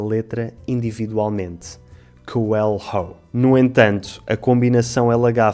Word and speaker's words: coelho: O LH é um som difícil. Coelho. Coelho. Coelho. Very good. Mais uma palavra em que, para variar, todos os Os se leem U. Coelho. Aqui os falantes nativos de inglês têm tendência a separar a combinação LH, pronunciando cada letra individualmente.